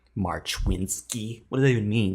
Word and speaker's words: Marchwinski: Marchwinski. What does that even mean? It's Polish, bro. You win ski events in The March? Polish way to pronounce it is Marfinski.